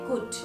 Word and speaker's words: could: अब देखते हैं कुड। C-O-U-L-D, कुड। यहाँ पे देखिए L साइलेंट है, L जो है उसका हम उच्चारण नहीं करते हैं, कुल्ड नहीं बोलते, बोल सकते इसको।